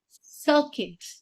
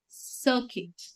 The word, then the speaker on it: circuit: Next word for you is circuit. Circuit. It's not circuit. It's circuit. Got that? It's circuit. U in this word is silent.